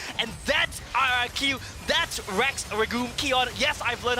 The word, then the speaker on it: Rex Regum Qeon: times as fun and that's our iq that's rex ragoon keon yes i've learned how to pronounce their name and they make it work